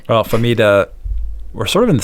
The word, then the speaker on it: Fahmida: Your name pronunciation, is it Fahmida?